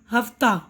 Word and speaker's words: ہفتہ: ان لفظوں کا آخری حرف ہا ہے. آخری حرف تو ہا ہے نا، لیکن اکثر ان کے تلفظ کے آخر میں آ کی آواز سنائی دیتی ہے، یعنی پروانہ، پردہ، مدرسہ، درجہ، ہفتہ، ٹھیک ہے نا. یہاں ہا کی آواز پوری طرح ادا نہیں کی جاتی.